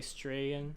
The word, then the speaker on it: Strahan: Strahan, maybe? Strachan. No, you don't pronounce the CH, I'm pretty sure. I'm going to say Strahan.